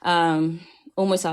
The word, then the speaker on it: Humo y Sal: Umoysal, obviously in Spanish, it has an H, a silent H for the Americans, but there's an H.